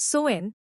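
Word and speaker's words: Samhain: the beginning of winter with a festival called samine samine pronounced soen was no ordinary Festival this was the Celtic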